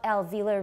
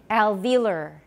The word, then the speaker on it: alveolar: see an o here in british english i believe they say they say alveola alveolus and some in americans say alveolar yoga uh but i've always said alveolar waziosanga india so that's the way we'll say it here alveolar alveolar sugar like